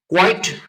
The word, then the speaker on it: quite: everybody so you know Qi T should rhyme with white quite white which is known